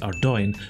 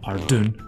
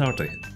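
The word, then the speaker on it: Ardougne: to point out that our dawn is pronounced are doing not our dune or our doug knee although i will accept our day and it will actually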